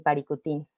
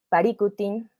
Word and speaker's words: Paricutín: verían surgir un volcán el Paricutín o Paricutín aprendí hace poco en su pronunciación más cercana al purépecha aquí lo que les